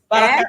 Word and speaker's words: Baraka: Baraka accent on the A.